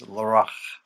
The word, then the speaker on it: Larache: It's Larache. Yeah, with Larache. that kind of guttural at the end. Yeah. But in English, we would just say Larache, I think.